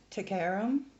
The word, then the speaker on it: Taghairm: are in this as well so it is pronounced to Karam and a small warning we're going to be